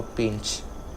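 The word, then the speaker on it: Pinche: as Papa Pinchy or Papa Pinch with a silent E at the end.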